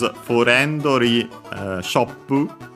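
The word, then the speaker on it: フレンドリィショップ: Yeah, luckily it's simply like in English on the friendly, so on the re.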